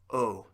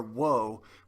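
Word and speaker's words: を: the direct object takes o now it says guitar wo but that's pronounced o and then because it's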